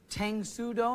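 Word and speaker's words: Tang Soo Do: lisa you're a first degree black belt in tangsudo am i saying it correctly yes uh how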